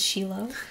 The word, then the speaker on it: Shiloh: me um i've been i will call it shiloh that's the proper way to say shiloh it is sheila i remember going to